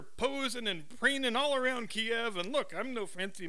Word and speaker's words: Kiev: Biden goes to Kiev that's Kiev two syllables and these five idiot